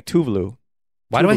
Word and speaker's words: Tuvalu: have talked about that americans say tov low even if it's tuvalu and she herself has said it in this little clip here you can hear how it's actually pronounced by her herself tuvalu and i think like